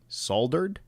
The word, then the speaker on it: soldered: So in my opinion, it should be soldered, right? Because there is an L and a D, like the word mold or cold, right?